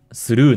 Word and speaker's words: through: 例えば、「tough」という単語は、「f」の音を表すために「gh」と綴られています。うん。「through」のような単語では、「gh」の音は発音しません。